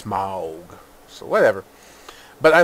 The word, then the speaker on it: Smaug: Ever since I heard it's pronounced a certain way in the trailer, Smaug. That's how I have to pronounce it. I used to pronounce it Smaug. Smaug. So I'm pretty sure that's actually how you're supposed to pronounce it. It's not Smaug. It's Smaug.